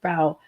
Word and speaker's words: Bow: Well, my last name is actually pronounced Bow, not Bow, but a lot of people get that wrong.